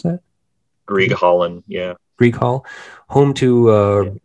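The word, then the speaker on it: Grieghallen: Is that how you pronounce that? Grieg Hallen, yeah.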